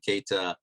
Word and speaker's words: Keita: Yes, you pronounced it correctly, Keita.